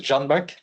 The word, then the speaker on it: Canberk: Hello, I forgot to write my name, sorry for that, but it's pronounced as Canberk.